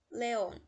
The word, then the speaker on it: León: León, última sílaba é a sílaba tônica, ou seja, é uma aguda.